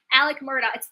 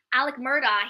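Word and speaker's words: Alex Murdaugh: Yeah, Alec Murdaugh. It's written Alex, Alex, but it's actually pronounced Alec. Alec Murdaugh.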